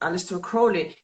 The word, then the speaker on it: Aleister Crowley: Marseille, Rider-Waite et, bon, je prononce à l'anglaise, Aleister Crowley.